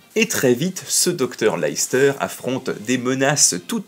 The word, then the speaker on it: Leicester: les aventures de George Leicester, et non pas Leicester, s'il vous plaît. Oui, enfin, si vous voulez vraiment bien le prononcer, c'est plutôt comme ça. Leicester.